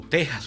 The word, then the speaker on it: Texas: Bueno, pues bien, salvo esos casos puntuales de Florida, Georgia y Texas, o Texas, que es como se pronuncia en castellano, el sur de los